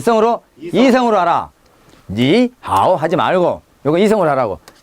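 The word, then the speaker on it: 你好: 두 개 되든 제일 끝에 있는 삼성만 삼성 발음하고 앞에 있는 삼성은 몇 성으로 2성으로 하라 니하오 하지 말고 요거 이성으로 하라고 니하오 이렇게 하라고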